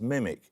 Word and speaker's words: MMIC: For what do the letters MM stand in the abbreviation MMIC, often pronounced mimic?